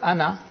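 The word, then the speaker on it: أنا: When you pause ana, you read the alif, pronounce the alif. But ana Muhammadun, ana Talibun, then you don't pronounce the alif, as if it is hamza plus noon fatha, ana, not ana.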